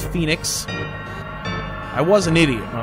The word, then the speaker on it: Phoenix: me running around in circles doing things treasures phonics down that's how I used to pronounce it I now know it's Phoenix I was an idiot when I was a